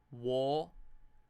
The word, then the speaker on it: walk: Walk. Funnily enough, the L isn't really prominent there.